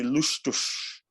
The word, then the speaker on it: lustuz: It's actually, if you pronounce it in Proto-Germanic language, which is the one that I use mostly, or Proto-Norse language, it would probably be lustuz. So the Z at the end, or the Z.